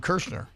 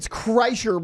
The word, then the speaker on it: Kreischer: It's Kreischer, but it's spelled really weird. It's like SCHN. So no N. There's no N in there. It's not Kershaw.